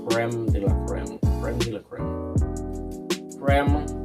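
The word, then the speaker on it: crème de la crème: For those of you who do not know, my channel name is actually pronounced Creme de la Creme.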